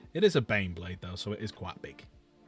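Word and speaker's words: Baneblade: It's pronounced Bane Blade.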